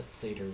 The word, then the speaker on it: satyr: A satyr, yes.